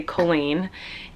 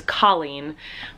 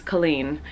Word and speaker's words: Colleen: name uh my parents my family we say Colleen and uh most of the world says colen but actually it's an Irish name um it's